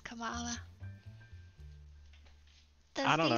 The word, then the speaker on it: Kamala: I know it's pronounced Kamala.